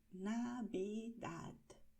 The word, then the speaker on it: Navidad: Date cuenta de que la V suena B, Navi, y luego terminamos con el sonido de la D, Navidad. Es una manera de pronunciar, Navidad. Pero dependiendo un poco de la región, hay personas que van a pronunciar de manera un poco diferente. Por ejemplo, en muchas regiones sencillamente esta D final se ignora. Se escribe, pero no se pronuncia.